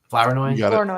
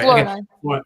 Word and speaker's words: Flournoy: I'm going to say his name wrong. Ryan Flournoy. Flournoy, yeah. You got it. Flournoy.